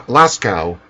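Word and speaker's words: Lascaux: uh what is it La lacrosse I think cave Las no there's La lasow lasow okay I'm glad you know how to pronounce it lasow cave have you ever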